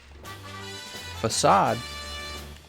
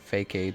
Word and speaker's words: facade: a ball back here facade if I was a little kid I'd probably pronounced that fake aid or something like that I know you put